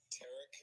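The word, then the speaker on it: Tarik: Tarek Skubal. It's a Tarek. He pronounces his name Tarek Skubal. Eric? Yes, Eric with the T.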